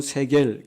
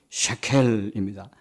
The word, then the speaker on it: 셰켈: 우리나라 번역으로는 세겔 그렇게 표현되는데 정확한 발음은 셰켈입니다.